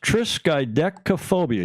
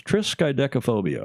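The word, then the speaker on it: triskaidekaphobia: fear of the 13th and it is actually pronounced triskaphobia you were pretty close triskaphobia I had to go even and listen to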